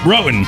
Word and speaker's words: Roughton: How do you say it? Larry? Roughton. Yeah, no, it's Roughton. You got it right, then wrong, then right.